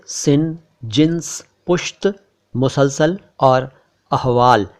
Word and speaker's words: सिन: इसके बाद है सिन, इसको कोई सीन ना समझे, कोई शिन ना समझे, कोई शीन ना समझे, ये है सिन।